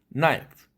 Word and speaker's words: knife: 라고 많은 예를 들겠지만 그때에는 그 사운드가 사일런트가 됩니다. knife, knock, knee 이런 식이죠. knife, knock 이렇게 하지 않죠.